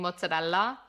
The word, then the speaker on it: mozzarella: Mutz or muzzadal is a very New York Italian American way of saying mozzarella.